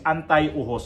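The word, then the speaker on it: anteojos: Ang tamang pronounce nito sa Espanyol is antiohos.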